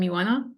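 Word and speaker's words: Ioana: for having me and for you folks out there wondering how my name is pronounced I know it's a common thing I'm Yana um I'm part of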